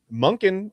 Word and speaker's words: Monken: Um, second, as you saw from a lot of those answers, Monkin rhymes with not flunking.